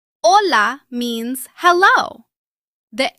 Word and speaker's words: hola: The Spanish H is normally silent. You see the letter, but you do not pronounce it. For example, hola. Hola means hello.